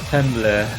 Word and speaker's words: Tumblr: I think uh someone once said Tumblr. Yeah, Tumblr. Oh, Tumblr. Like the website.